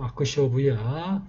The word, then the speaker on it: अक्षोभ्य: 그래서 옴 아크쇼부야 훔이 되겠고요.